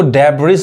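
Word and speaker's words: debris: देखिए कौन कौन से वर्ड्स हैं, जैसे इसको डेब्रिस बहुत लोग गलत पढ़ते हैं, ये एस साइलेंट होता है। क्या पढ़ाएगा, डेब्री, डेब्री यानी एस नहीं पढ़ाता है।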